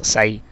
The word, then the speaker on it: psi: It is denoted by the symbol psi and to be pronounced as psi.